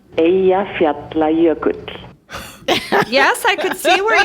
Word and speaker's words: Eyjafjallajökull: I don't know how it's spelled, but listen to how it sounds. Eyjafjallajökull.